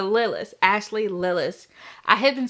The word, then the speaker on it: Lillis: is the rosemary tea designed by Ashley Lis yes rhymes with Willis so Lis Ashley Lis I have